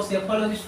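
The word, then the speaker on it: psephologist: इसको सेफोलॉजिस्ट पढ़ेंगे, इसमें पी साइलेंट रहेगा।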